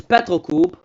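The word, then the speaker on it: Petrocub: Fourth place is Petrol Coupoop. And yes, that's actually how it's pronounced.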